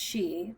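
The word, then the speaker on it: し: The number four is pronounced she the same as the word for death and is considered very unlucky.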